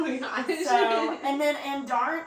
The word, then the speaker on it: Andarna: So, and then Andarn, how do you say... Andarn. I say Andarna.